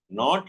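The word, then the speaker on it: know: it is in English the spelling and the pronunciation are different not like Tamil and samam in Tamil and samam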